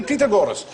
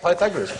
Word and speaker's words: Pythagoras: this must do the pag gorus and are we going to do pag gorus you go shut up FR do pagor years later I discovered he meant P Pythagoras he used to pronounce